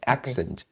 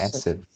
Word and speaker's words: accent: first word uh uh we need the the sound of the k so it's like accent and you pronounce acid okay excellent as a